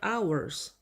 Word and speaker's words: hours: And in my hours 그리고 내 시간에 hours는 시간이라고 하죠. H는 소리를 내지 않는 묵음입니다.